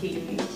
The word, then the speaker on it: Caddy: It's pronounced Katie.